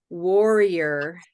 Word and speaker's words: warrior: idea for turquoise but what does Warrior really sound like you could you might say warrior Warrior if you're saying it quickly right Warrior but it's really war war war Warrior Warrior but then in quick speech we might say warrior so I I like